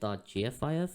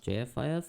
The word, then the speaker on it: JFIF: By the way, for some reason I have been pronouncing it .gfif and not JFIF. I don't know.